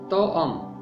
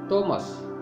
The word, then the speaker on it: توما: کسان۔ نمبر 7، توما۔ توما ارامی زبان میں جڑواں کو کہتے ہیں اور ارامی میں اس کا تلفظ ہے توأم۔ اس کا یونانی تلفظ ہے تومس۔ نمبر 8، متی۔ متی